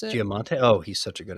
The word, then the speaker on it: Giamatti: Spectacular show with Paul Giamandis, I think you pronounce it. Giamatti.